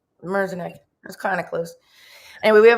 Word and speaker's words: Merzenich: Michael, and please pronounce his last name for me. It's Merzenich. Merzenich.